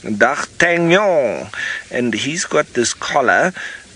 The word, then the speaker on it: d'Artagnan: d'Artagnan of the Musketeers doc Canyon if you want to say it like that but the French word if I'm not saying it perfectly I'm sure but doc tan y'all and he's got this